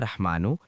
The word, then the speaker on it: رحمان: مبارک پڑھنا ہے، یا رحمانو یا رحمانو یا رحمانو یا رحمانو۔ اب را کے اوپر زبر ہے رحمانو۔ میں ایک ایک لفظ